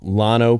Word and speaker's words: Llano: I used 100% Tex malt, Llano Pilsner malt, and we're going to have some